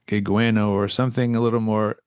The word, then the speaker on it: Guigueno: Gigueno or something a little more. I don't know. I never knew that's how you pronounced it was Gigano.